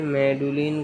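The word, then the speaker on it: Magdalen: Was educated eight Clifton college Bristol and मैगलन pronounced मेडुलिन college Cambridge where he studied philosophy.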